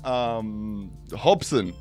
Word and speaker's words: Hobson: Anyway, next coding channel, we got Hobson. Is that, I pronounced that right? I got that. It's actually Hobson.